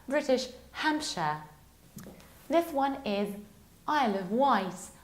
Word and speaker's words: Isle of Wight: This one is Isle of Wight. White as if it was a white colour.